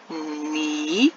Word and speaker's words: knee: So this word, I did not put a sound bubble by the letter K because the letter K is silent. It doesn't make any sound in this word.